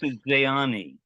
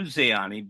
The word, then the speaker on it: Zeani: she was the she was also I would pronounce Zeani. Zani. Yeah. In Romanian it's Zany.